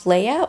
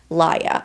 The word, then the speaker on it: Lia: So, we have Leia or Lia, I think. I think her name's actually pronounced Lia. I've been saying Leia this whole time, but I have to have to correct myself.